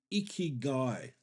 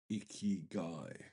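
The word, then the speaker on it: ikigai: it one really good exercise for that is iy guy it's a Japanese process which I highly recommend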